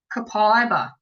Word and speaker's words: copaiba: Copaiba.